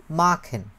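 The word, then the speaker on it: machen: ময়াকার ক্ষয়কার ন, কি বলে উচ্চারণ করেন? মাখেন।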